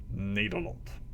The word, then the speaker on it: Nederland: come from the Netherlands or as is pronounced in our language nederland i was born in